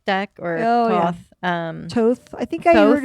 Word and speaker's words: Thoth: but maybe you're wrong it's spelled t-h-o-th we should have probably looked at it yeah I did but I did the um one of my uh tarot episodes I think it was pronounced Toth okay so yeah I've